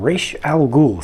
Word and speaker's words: Ra's al Ghul: is the Lego Batman rescue from RE Al Gul set and no I did not pronounce that incorrectly I think a lot